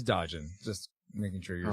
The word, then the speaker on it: Dodgen: It sounds like you're saying Doggin, but yeah, it is Dodgen.